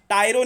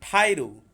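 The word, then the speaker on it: tyro: उसके बाद टायरो नहीं, ठायरो। इसका ब्रिटिश अमेरिकन प्रोनाउंसिएशन है ठायरो, ठायरो, ठायरो।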